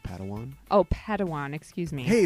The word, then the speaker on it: Padawan: master yoda assigned a pad one to this bold jedi it's pronounced padawan oh padawan excuse me